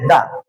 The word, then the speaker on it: the: যদি টি এইচই এর পরের শব্দের প্রথম বর্ণটি কনসোনেন্ট সাউন্ড হয় তাহলে শব্দটির উচ্চারণ হবে দা কি উচ্চারণ হবে?